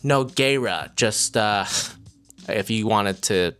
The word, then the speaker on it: Nogueira: Apparently it's pronounced Nogueira, just if you wanted to know for sure how to pronounce her last name.